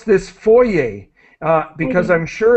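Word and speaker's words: foyer: I would say try to copy the French pronunciation Foy like boy Foy with the yay at the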